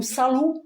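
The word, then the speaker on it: さる: forme verbale négative et sarou s a r u ou salou puisque on prononce pas le r chez les chez les japonais salou sarou s a r u qui veut dire sage.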